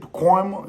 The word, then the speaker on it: Pacoima: Pacoima. That's how you say it? Pacoima, you heard?